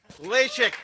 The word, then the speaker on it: Lasik: secondly we have Zachary LASIK LASIK that's how you say it LASIK okay the next